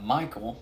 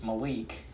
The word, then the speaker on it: Malik: playmaker malik cunningham back i've been mispronouncing it mispronouncing his name as uh michael cunningham it's malik cutting him back scott satterfields